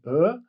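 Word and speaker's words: ㅓ: how is uh pronounced the tongue position when pronouncing uh is the same as for U but the mouth is wide the mouth is not open just wide imagine you're pronouncing o but you have to bring your lower teeth to your upper lips and open your mouth wide so this is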